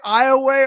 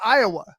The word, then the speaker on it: Iowa: lake yeah and so when you heard him say i away earlier okay it's literally spelled exactly like iowa but that's not how you say it we always know the